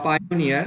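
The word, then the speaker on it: Payoneer: যে আমাদের payment gateway তো পেয়নিয়ার বা পাইনিয়ার এ একজন এ একভাবে উচ্চারণ করে তো আমি পেয়োনিয়ার উচ্চারণ করি তো পেয়োনিয়ার আপনার একটা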